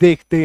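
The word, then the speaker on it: though: जैसे TTO Yeezy H इसका उच्चारण क्या होता है दो इसका उच्चारण क्या होता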